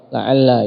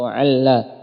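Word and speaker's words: لعلّ: Yang pertama itsbat, yaitu dengan menetapkan lam yang awal, la'alla yang masyhur seperti itu. Wal hadfu dengan menghilangkan lam, yaitu alla.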